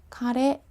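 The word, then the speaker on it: 彼: 나타내는 단어도 따로 있겠죠 그를 나타내는 대명사 가래 라고 합니다 먹는 카레 아니에요 그녀는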